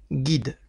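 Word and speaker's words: גיד: le son I, Gui, le yud qui accompagne le point en dessous de la lettre guimel, donc ça fait Gui, et ensuite le dalet, qui, comme nous l'avons dit, se prononce comme un D, donc ça donne guide, qui signifie nerf.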